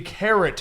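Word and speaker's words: Keret: All right, the next one is the Carrot House. All right. Well, Spelled, Carrot House giant is- carrot. spelled K-E-R-E-T. It's before- spelt like Kakarot.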